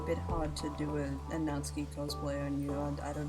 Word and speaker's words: Natsuki: Were you pronouncing it as Natsuki? Oh! Yeah, maybe. No, it's Natsuki. That's the pink-haired chick, yeah? Yes, it's a Japanese name.